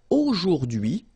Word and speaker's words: aujourd'hui: H is not pronounced, so you only get this dui thing.